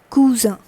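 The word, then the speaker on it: cousine: That is same in English, but the pronunciation is cousin. Cousin.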